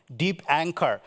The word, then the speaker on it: Dipankar: a problem I say you can call me as deep anchor because anchor everyone knows the Geotech and though